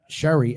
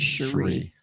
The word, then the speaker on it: Cherie: about folks is that Sherry actually is a wood carver I will say them the right pronunciation of my name is Cherie because I messed that up in the last one hey um but yeah